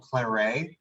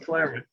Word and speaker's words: claret: So, so it's pronounced claret. That word is pronounced claret in London, and that's where the name really began.